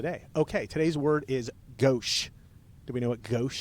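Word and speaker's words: gauche: But it's goch. Oh, I did not know that. Gosh.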